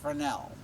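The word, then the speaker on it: Fresnel: and he invented the frel lenses it's it looks like it's Fresno there's an s in there but the S is silent it's frel one day on Jeopardy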